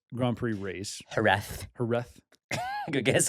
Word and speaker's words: Jerez: We just finished the Jerez Grand Prix race. Jerez. Good guess. Apparently Z's have a TH sound.